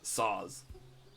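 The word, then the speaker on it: Szoz: let's just get um which one can i pronounce continuously okay it's saws saws i'll put it in the chat s-z-o-z it's a pretty cool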